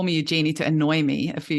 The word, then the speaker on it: Eugenie: It's probably, my name is actually Eugenie, which is, my mum called me Eugenie in South Africa. But then I discovered actually the French pronunciation is Eugenie. But then I came to Australia and it just got bastardized to Eugenie.